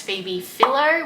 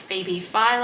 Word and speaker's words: Phoebe Philo: all of my previous celine videos i had pronounced it as phoebe phillo when it's phoebe philo i hate when i mispronounce things it's how